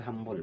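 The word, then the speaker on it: humble: शुरू हो रहा है, और एच का उच्चारण यहाँ ह के जैसा है, हम्बुल, जो कि व्यंजन वर्ण से शुरू होता है।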